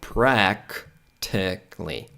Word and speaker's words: practically: Então você vai ignorar esse A no finalzinho. Então, practically, practically, practically, practically, practically, practically, practically, practically, ok?